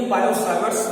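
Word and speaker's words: Biot-Savart: देखो बेटा, टी का साइलेंट बोलने में ही बायो-सावर्ट्स लॉ बोला जाता है, सावर्ट्स लॉ, लेकिन आप ऐसे ही बोल सकते हैं, स्पेलिंग सही होनी चाहिए बस।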